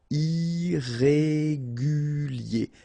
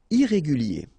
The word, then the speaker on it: irrégulier: Okay, remember, I-E-R at the end of your word here, it will be ye, okay? Irrégulier. Irrégulier.